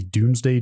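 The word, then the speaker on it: Domesday: combination with a device called I believe the pronunciation is the Doomsday duplicator even though it's spelled like a doday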